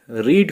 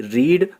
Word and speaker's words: READ: जैसे READ, रीड को कभी रीड पढ़ा जाता है और कभी रेड। ऐसे ही LEAD को कभी